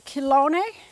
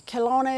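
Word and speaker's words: Chelone: But I do have one that I put in which is called a kilone and it is also known as turtle head. That's its common name. And the kilone is spelled c h e l o n e pronounced kone.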